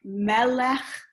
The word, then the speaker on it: melech: on the last syllable there are patterns of words like melech nephesh where the stresses at the beginning um if you're having